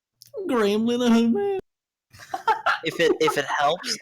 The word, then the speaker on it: Linehan: Like swings, like Graham Linehan, man. If it helps, a lot of Americans pronounce his last name Lineham, because I think that's how Shaggy would say it.